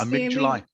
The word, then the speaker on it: amygdala: Did I pronounce that correctly, do you think? Yes, amygdala.